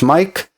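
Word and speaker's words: Maic: My name is spelled M-A-I-C and sounds as Mike.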